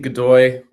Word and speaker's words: Godoy: Is that how you say his name? Yeah, Art and Steve Godoy are tattoo artists, punk rockers.